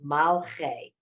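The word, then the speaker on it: מַלְכֵי: So it's 2 syllables. Malche.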